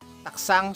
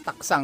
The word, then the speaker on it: たくさん: Watashi wa Manila de taksang shashin o torimashita. So ito, no? Pinopronounce to guys is taksang, no? Para may silent G, no?